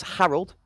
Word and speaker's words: Harold: some great information that the pronunciation on the XPA top fragger right now is Harold rather than Zarrel. So apologies from the casting booth if we've been mispronouncing that one there, but good shots from Harold.